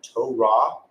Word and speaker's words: Torah: The transliteration would have been to ra you pronounce it as to ra. Phonetic spelling is to ra and the definition is a law, an instruction or a teaching.